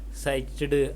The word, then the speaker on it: psyched: Well, the initial P is silent and yetched.